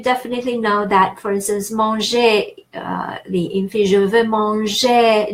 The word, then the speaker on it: manger: And knowing verbs, you definitely know that, for instance, manger, the infinitive, je veux manger du pain. Manger is in infinitive ER, we pronounced E.